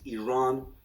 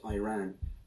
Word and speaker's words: Iran: the Iranian people but you're pronouncing a country's name wrong our country is named Iran not Iran it is once and